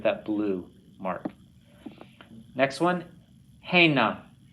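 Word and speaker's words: הנה: Hena. Not hena, but hena.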